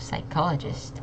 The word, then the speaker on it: psychologist: sound prophecy and again emphasizing on that first syllable okay next we have psychologist I know this looks really long and also